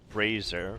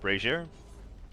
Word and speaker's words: brazier: Alright, apparently that was a hallowed brazier. Brazier? Not brazier. Brazier. Brazier?